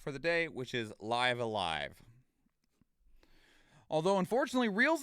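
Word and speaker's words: Live A Live: the longest time although liv is one of those words that could be pronounced like three different ways and they all mean something different but apparently it is actually properly pronounced live alive and this was a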